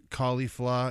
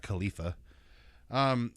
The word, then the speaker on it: Caulifla: Caulifla. There's an L at the end, not Khalifa. Their names are supposed to be from kale and cauliflower because they're Saiyans, so they're vegetables. But Kale and Caulifla are two female Saiyans